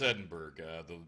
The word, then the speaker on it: Edinburgh: Am I pronouncing it wrong? I suck at words. No, it's Edinburgh. The curator, the person who walked us through, she pronounced it Edinburgh, so we're going with that.